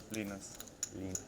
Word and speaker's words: Linus: How do you pronounce it in Swiss? Linus. Exactly. Like O, I is like E.